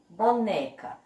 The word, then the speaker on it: boneca: Então, na palavrinha boneca, a sílaba mais forte é o pedacinho né.